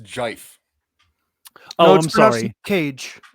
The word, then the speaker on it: GIF: in the wind, and I believe it's pronounced jife.